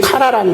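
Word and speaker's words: קָרָא: 일컬는다는 말은 이 카라란 말은 우리 가수 그룹에 카라가 있더라고요. 그 카라라는 발음 말은 음사는 똑같은 말입니다.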